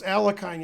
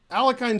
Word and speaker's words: Alekhine: Yo instead of yeah.